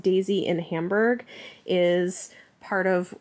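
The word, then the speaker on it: DESY: The Deutsche Elektron Synchrotron, pronounced Daisy in Hamburg, is part of, I think, where they did dating of these samples.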